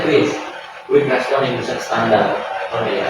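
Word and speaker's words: QRIS: Bukan Kris, bacanya Kris.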